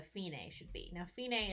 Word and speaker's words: fine: a should be now Fein a is the Italian word meeting end and it's spelled F I and II just like the English word meaning fine so what I